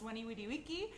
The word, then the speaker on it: veni vidi vici: as people have pointed out yes it is pronounced when e we D we key in Latin however you know this is sort